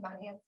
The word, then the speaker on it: Monahans: Monahans?